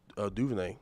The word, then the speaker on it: DuVernay: I had to, So as the show that, you know, Ava DuVernay, is that how you pronounce her name?